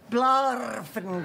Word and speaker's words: Smith: And that's pronounced? Blarfinger. Not Smith?